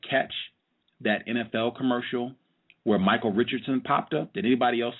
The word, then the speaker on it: Michael Richards: commercial did you see michael richardson in it and did you have thoughts around that peace peace um i didn't see the commercial but you keep saying his name wrong it's michael richards and while you were